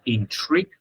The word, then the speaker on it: intrigued: Và từ này phát âm là intrigued, sau đó âm ed phát âm là đờ, intrigued.